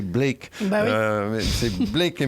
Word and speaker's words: Blake: tard leurs traits à Black et Mortimer. Donc je prononce Black, il faudrait prononcer Blake.